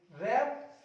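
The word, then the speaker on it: wrap: रैप यानी लपेटना, यहाँ आर से पहले डब्ल्यू आ रहा है, डब्ल्यू साइलेंट हो जाएगा, रैप, रैप्ड, रैप्ड।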